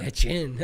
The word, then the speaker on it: Etienne: Well, it's actually how you say it, so. It also goes with your other ones, though. Usually your Francais. Yeah, my fake Francais names, but this is actually a Francais name, but Americans just, it's